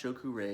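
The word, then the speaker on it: Cho Ku Rei: And pronounced Shoku Rei, it's the power symbol of Reiki.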